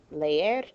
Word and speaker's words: leer: Leer, 2 syllables, stress on the last syllable because it ends in a consonant other than N or S.